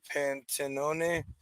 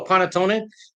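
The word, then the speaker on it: panettone: also does Desserts here I'm going to not pronounce that right Panton bread pudding oh P oh paneton Paton thank you yeah yeah yeah yeah no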